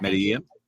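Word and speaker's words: Medellín: Medellin. Yeah, Medellin. Yeah, exactly. 2 L's cancel out, whatever.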